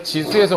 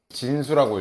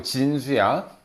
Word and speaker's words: 진수: 그리고 얘 이름은 진수라고 읽어. 지수 아니고 진수야.